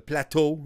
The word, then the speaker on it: Plateau: up all the cafes on the plateau the plateau like he said it that's how you're supposed to pronounce some friends mean when got some bagels